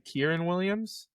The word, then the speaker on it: Kyren Williams: How do you pronounce his name? Kyren Williams.